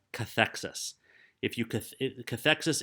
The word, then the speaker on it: cathexis: term called that's not written here it's called cathexis cathexis is spelled CA th e X I s cathexis